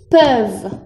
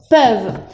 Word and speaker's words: peuvent: Aquí se escribe con ENT, pero no se pronuncia porque es un verbo conjugado. Y se pronuncia, aquí te lo pongo entre paréntesis, es una E, pero más abierta, es E, peuvent, peuvent.